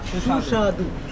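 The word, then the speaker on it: সুস্বাদু: Shushadu.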